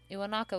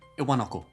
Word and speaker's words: Iwanako: Iwanaka was the last to stop visiting. Are you correcting me? You're not from Osaka. You don't say it like you say Iwanako, not Okay, Iwanako. well, does it matter?